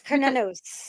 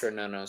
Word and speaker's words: Cernunnos: Cernunnos, Cernunnos. There's a couple of ways to See, pronounce this, but it's the always traditional it's way always a is, k. It's yeah. always a k sound.